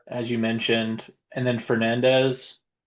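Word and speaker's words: Fernández: and then Fernandez or Fernange as we're supposed to pronounce it.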